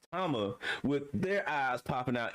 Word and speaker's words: Tama: They scared, they eyes popping out, and then you get Law, Kid, Chopper, Nami, and Toma. There we go, Tama. That's how you pronounce her name, Tama, with their eyes popping out in the cartoon fashion.